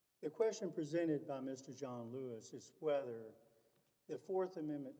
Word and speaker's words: Johnlouis: how does he pronounce it john lewis he pronounces it john lewis but other pronunciation is correct well i figured since we were in new orleans it was jean louis i generally refer to him as john lewis